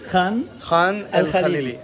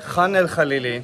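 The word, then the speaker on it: Khan el-Khalili: There you go, I wouldn't be able to pronounce it as good. Khan el Khalili. Khan el Khalili.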